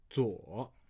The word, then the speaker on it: 撮: Now this character also has a second pronunciation called 左左.